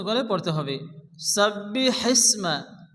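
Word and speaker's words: سَبِّحِ اسْمَ: বিসমিল্লাহির রাহমানির রাহিম এখানে শুরুতে যে ওয়ার্ডটি এসছে সাব্বি হিসমা শুরুতে বড় হেসে এই হাকে মুখ দিয়ে বাতাস বের করে উচ্চারণ করে পড়তে হবে সাব্বি হিসমা সাব্বি হিসমা রব্বিকাল রব্বিকাল আলা শেষে লাগে টেনে পড়তে হবে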